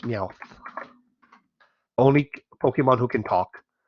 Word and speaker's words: Meowth: ban Pokemon as I said it's yeah it's pronounced Meowth only Pokemon who can talk I think there